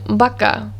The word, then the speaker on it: vaca: v into this because b and v are identical in sound they both make the b sound the ba sound for example the words bino which means wine and the word baka which means cow both of those words